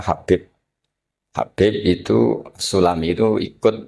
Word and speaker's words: Habib: Itu di harakatnya kitab itu ada yang nulis tubab. Tapi yang benar Oh, nggih. Yang benar itu bacanya habib.